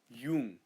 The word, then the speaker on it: Jung: and J makes a Y sound, so you say a Y sound, so you say Jung, not Jung, Jung, Carl Jung, cause Deutschland.